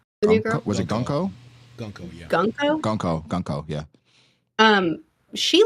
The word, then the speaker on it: Gunko: Is it Guku? The new girl? Was it Gunko?